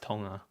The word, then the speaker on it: Tonga: It's To- It's actually pronounced Tonga. Do you know that? Tonga? It really is. How Tonga? It's not It's not You don't say the G.